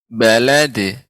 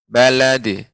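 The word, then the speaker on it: بلد: Di mana ketika qalqalah pada huruf dal tidak boleh ada hamzah ketika pengucapannya. Balad, tidak balad.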